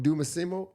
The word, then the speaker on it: Dosunmu: Dosunmu.